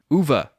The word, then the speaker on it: Uwe: Uwe. W's are pronounced like V's.